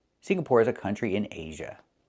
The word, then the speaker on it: Singapore: It's not Singapore, it's Singapore. The NG makes a sound in your nose. Sing, like when you sing a song. Together, Singapore. Not Singapore, but Singapore. Singapore is a country in Asia.